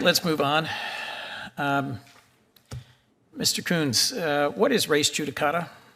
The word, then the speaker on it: Coons: Coons, is it pronounced the same way mine is?